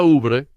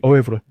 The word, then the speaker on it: oeuvre: Se pronuncia Ubre. Sí, Oeuvre. Me gusta llamarlo Oeuvre.